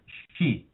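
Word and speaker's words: 四: In my wife's country, Japan, um the number four is pronounced she.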